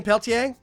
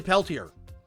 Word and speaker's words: Peltier: Is it Peltier? Yeah, the R is silent.